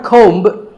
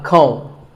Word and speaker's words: comb: Not a comb, a comb.